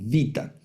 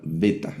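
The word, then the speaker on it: βήτα: Por ejemplo, la la segunda letra algunos la llaman vita y nosotros vamos a llamarla beta, la letra beta.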